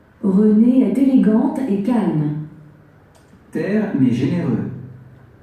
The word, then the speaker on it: élégant: If masculine, how to pronounce elegant? Élégant.